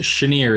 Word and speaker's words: Shanir: It's pronounced Shanir. It's Hebrew. Near.